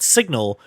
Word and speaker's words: SGNL: a Kickstarter for a product called signal which apparently can't afford the extra letters because it's spelled sgnl uh and what this